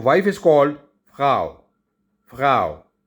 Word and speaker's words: Frau: So wife is called फ्राउ। फ्राउ, it's written like this F-R-A-U, but R-A, like I told you, it's pronounced as G.